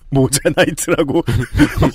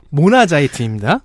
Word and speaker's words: 모나자이트: 일부 기자들은 이것을 자꾸 모자나이트라고 모자를 쳐서 어머니와 아들의 밤? 되게 이거 무슨 그 건전한 콜라텍의 이름 같기도 한. 자, 최근 5년 동안 모나자이트는 방금 전에 옆에 때에 모자나이트라고 발음할 뻔했잖아요. 네. 검색해보세요. 모나자이트입니다. 네.